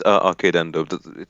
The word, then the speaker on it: Arcadendo: I've never, I don't think I've ever heard your name pronounced out loud. Yeah, it's Arcadendo.